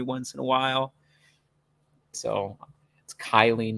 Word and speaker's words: Kiely: like I would accidentally at times say Keely instead of Kylie I did it like